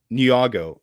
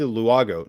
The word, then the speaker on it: Nyong'o: Because for me, just because, Brad, can you even begin to pronounce this actress's name? Lupita Nyong'o. No, Lupita Luago.